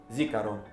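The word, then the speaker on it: זִכָּרוֹן: Neno hili ukumbusho au kumbukumbu kwa kiibrania inatamkwa zikaro kutoka kitenzi zaka yaani kukumbuka.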